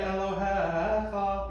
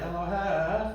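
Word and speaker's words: אֱלֹהֶיךָ: So by the book, it's Adonai Elohecha, because Elohecha, the accent is not on the last syllable, it must be a Geireish, right?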